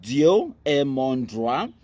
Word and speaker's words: Dieu et mon droit: It's a French. It's pronounced Dieu et mon droit. Now old French, where it means wetin God and my right.